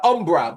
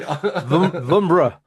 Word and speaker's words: Vumbra: Umbra, but umbra spelled with a V. V. But it's Umbra, folks. No, don't. Brend, we went through this already. Vumbra.